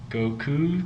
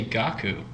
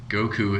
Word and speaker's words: Goku: way through the entire Goku storyline yeah hey you know what people get annoyed by is if you say gaku I take it this